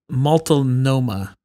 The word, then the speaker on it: Multnomah: It's pronounced Multnomah Falls.